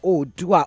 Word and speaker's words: Oodua: It's called Adire Odua. Odua is spelled OODUA.